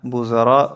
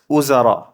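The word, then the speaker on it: وزراء: উম্মাহাত, উজারা না বুজারা হবে উচ্চারণটা উজারা। ওয়াওয়ের উচ্চারণ কখনো ব হয় না, এটা ওয়াওর উপরে দম্মা, এটাকে আমরা ডাব্লিউ ইউ দিতে পারি, উ, উজা, র, উ, ঠিক আছে, উজারা উ।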